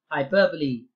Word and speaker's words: hyperbole: time is up and you should be saying it as nothing other than hyperbole that's how you say okay hyperbole and let's